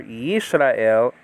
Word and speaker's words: Yisrael: But now in the word for Yisrael is above the left upper corner, and that means it's an S, okay?